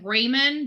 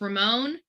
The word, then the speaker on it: Ramon: It says it almost pronounces it Raymond, but it's Ramon Preciado.